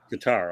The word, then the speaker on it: Qatar: okay pretty much right and now you have Qatar is that how they pronounce it yeah guitar okay investing into the Washington teams of all